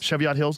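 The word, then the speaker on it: Cheviot Hills: Chevott Hills.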